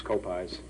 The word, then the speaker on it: Koppeis: of apple pies it's co- pies and they sort of pick that up pretty easily uh the last part of the name rhymes with pie Cai hi Frank Cai